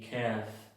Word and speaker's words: calf: LF al final de las palabras, la L es muda. Half y calf. La L no se pronuncia.